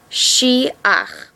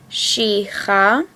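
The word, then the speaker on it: שֵׂחַ: We're not reading it she-cha. The correct way to say it is she-ach. This only happens when a chet and the a come at the end of a word.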